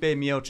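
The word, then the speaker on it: Miočić: Stipe Miocic.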